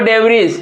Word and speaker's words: debris: Third number में लिखा हुआ डेवरीज, DEBRIS, इसमें देखिए कि इसमें भी पढ़ाया था क्या भैया, इसको हम लोग डेवरी पढ़ते हैं, तो ये क्या हमारा साइलेंट क्या हो गया, इसमें S साइलेंट हो गया।